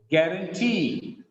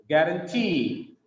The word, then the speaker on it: guarantee: Guarantee. The stress is on last syllable here. Guarantee.